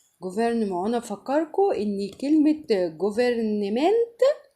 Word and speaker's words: gouvernement: طبعا الاو بتتنطق او، والجي مع الاو ما بتعطش، فبقول جو على بعض كده. جوفير الار بتفتح لي حرف الاو زي الال بالظبط. جوفرنمون وانا بفكركم ان كلمة جوفرنمنت تقريبا حكومة باللغة الانجليزية.